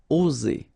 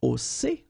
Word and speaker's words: oser: Okay, it's interesting here because you've got only one S between two vowels, and normally the pronunciation you will get when you've got only one S, it's Z, okay? Oser, all right? If you would have deux S instead, you will pronounce it oser, okay? But in that case, you've got only one S, and that's the rule. One S between two vowels will produce the sound Z, oser, okay?